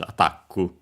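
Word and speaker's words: アタック: The accent is just like in English, attack, on the ta, also in Japanese, attaku.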